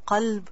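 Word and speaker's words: قلب: So make sure you pronounce qalb properly, because you might be referring to someone's or your own qalb and you might say kalb.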